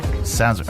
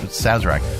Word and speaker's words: Sazerac: How to pronounce it? Click on that. How? Sazerac. Okay, Sazerac.